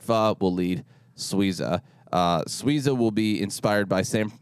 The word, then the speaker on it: Suiza: me in Eastside phob will lead Suiza uh sweeza will be inspired by Sam San Francisco's Mexican-American